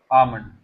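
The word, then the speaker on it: almond: इसमें L silent होता है. तो क्या हो जाएगा? आमंड.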